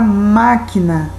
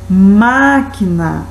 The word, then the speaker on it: máquina: E bem embaixo temos a palavra máquina. Máquina, máquina, você demora um pouquinho mais.